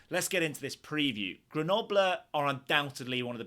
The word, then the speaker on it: Grenoble: Yes, we pronounce it Grenoble, Grenoble, Grenoble.